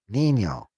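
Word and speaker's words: Niño: It's pronounced, yeah, Nino. Note that the tilde N is between I and O. Thus, N takes the initial sound of the vowel.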